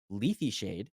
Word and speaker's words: Lethe Shade: it the right way, but I hate this pronunciation. Lethe Shade.